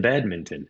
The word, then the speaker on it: badminton: And I guess you do pronounce the N in badminton.